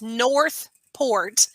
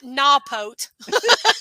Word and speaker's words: Northport: It's Northport. You don't use your R's. I've noticed that. You kind of throw that out the window. It's Northport, not Nawpote.